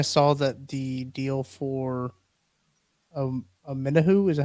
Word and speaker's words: Omenihu: But I also think I saw that the deal for Omenihu, is that how you say it right?